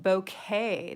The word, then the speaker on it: bokeh: we're gonna work on a little bit of bouquet that's how you pronounce it and bouquet from my understanding is